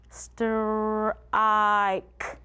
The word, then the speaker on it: strike: Esta es la mezcla S T R, str, str, y ahí está esa E silenciosa así que la I va a decir I, así que vamos pronunciarla, str i ke.